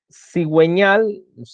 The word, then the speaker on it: cigüeñal: Cuando la U debe ser pronunciada en las sílabas we, wi, por ejemplo, tenemos pingüino,